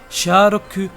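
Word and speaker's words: シャーロック: aléatoire en effet car en prononçant les chiffres à la japonaise ça nous donne Shi roku qui est la prononciation japonaise de charlock sharoku le mot de passe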